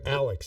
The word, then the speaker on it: Alex: Elwood per um so I'm sorry Alex not leex Alex uh so written by the members of Rush yes um and Alex that we know is